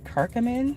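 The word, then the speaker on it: curcumin: I seen a uh advertisement for turmeric and I believe kirkamin, which are two herbs.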